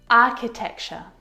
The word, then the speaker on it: architecture: and sometimes some earrings architecture architecture this one is so often mispronounced I hear architecture architecture which is incorrect the CH sound in this word is a c sound like in cat architecture